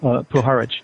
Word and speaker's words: Puharich: Puharich, right.